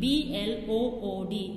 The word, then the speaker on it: blood: a now let's read the words aloud c b l o o d it is pronounced as blood double o uh uh blood